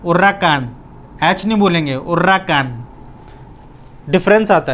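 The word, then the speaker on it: huracán: हमेशा स्पेनिश में H silent होता है, एच की कोई आवाज़ नहीं है। एच is completely silent in Spanish. तो उर्राकान, उर्राकान, कान, इस पर आई है तो वर्ड क्या एम्फेसाइज होएगा?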